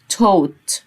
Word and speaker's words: taught: يعلم يعني teach، علم يعني taught، ال A وال U أنطقها O والG وال H ما أنطقهاش. taught.